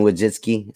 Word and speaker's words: Wojcicki: tell you this isn't youtube this isn't susan wojcicki said it right that time this is this